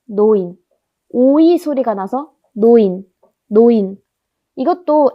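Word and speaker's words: neun: 그러면 네운이라고 발음을 해야 할 것 같은데 독일에서 에랑 우가 결합하면 오이 소리가 납니다. 어이. 그래서 네운이 아니고 노인입니다. 노인.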